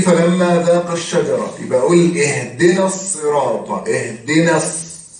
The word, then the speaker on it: اهدنا الصراط: طب ليه انا بقول اهدنا الصراط بنطق النون وبنطق بعدها على طول الصاد؟ بعديها ساكن. زي بالظبط وقال الحمد لله، زي فلما ذاق الشجرة. يبقى أقول اهدنا الصراط، بنطق النون وبعدين بنطق الصاد المشددة، اهدنا الصراط المستقيم.